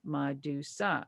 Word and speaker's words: Madusa: can become iconic and so i thought of madusa mad usa made in the usa well i took that